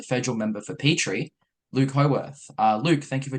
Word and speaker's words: Howarth: all of you yeah um I realize I pronounced your last name WR so it's it's howorth correct yeah Luke howth yeah Luke